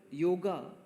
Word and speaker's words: yoga: it so you know yoga the very word we pronounce it in English yoga yog it all comes from